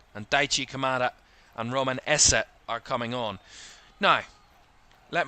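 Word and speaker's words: Esse: and a Barry ezer there's a difference it's it's going to be minimal of a difference in the other pronunciation but there is a difference there's an Essa and an ezza I mean fantastic isn't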